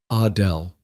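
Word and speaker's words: Adèle: She pronounced it the French way. Adele.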